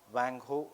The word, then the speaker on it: Huang Ho: So remember, Chinese में spelling does not matter, pronunciation matters. So Huang Ho या Wang Ho, it is the same thing.